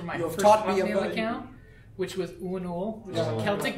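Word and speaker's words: Uanuiil: I used for my first account which was unul which a Celtic name u a n u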